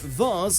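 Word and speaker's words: vase: can pronounce this word whether it's said vas like Mars or V like Hayes generally the former is the British version and the latter the American vas came up as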